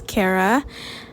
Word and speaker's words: Khara: My name is Khara, not Khara. The H is silent.